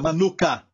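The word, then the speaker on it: מנוחה: Usa o artigo definido, e a palavra descanso aqui é no hebraico a palavra manuka. Tem até um mel com este nome, manuka. Certo? Mesma pronúncia, manuka.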